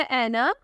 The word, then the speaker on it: Aena: अगला नाम है ऐना। ऐना नाम की स्पेलिंग है AENA।